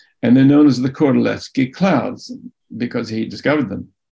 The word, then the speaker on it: Kordylewski: L-E-W-S-K-I, and because the Poles pronounce the W like a V in the same way that we say Wagner in German, Kordylewski. And they're known as the Kordylewski clouds because he discovered them.